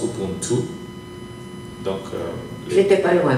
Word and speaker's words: Ubuntu: Mais la vraie définition, elle vient du Xhosa, une langue sud-africaine, et ça se prononce Ubuntu.